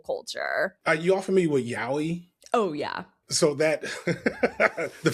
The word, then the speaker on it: yaoi: You all familiar with yaoi? Oh, yeah. So that the fact that Nat's the one person that's like, no. Who? Wait, it's gay. You know what yaoi is, Matt? It's not even, is yaoi gay?